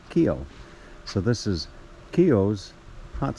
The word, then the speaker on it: Keough: the hot springs well the pronunciation is Kio like k y and then o Kio so this is kio's